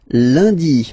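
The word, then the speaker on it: lundi: And in France, uh, the week starts with Lundy, Monday, Landy, Lundy. Okay, remember N is pronounced like Liy Landy Landy.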